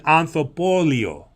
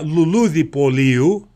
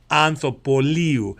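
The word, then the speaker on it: ανθοπωλείο: it correctly, it's an anthropolio. So you hear that anthos in the beginning. So it's not a luludipoliu, it's an anthropoliu.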